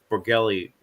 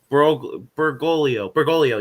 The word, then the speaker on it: Bergoglio: the man previously known as Cardinal George Mario Borgelli. I'm probably pronouncing it terribly wrong. My apologies. Borglio, you said? Yeah, Borglio. Bergoglio, yes, Bergoglio.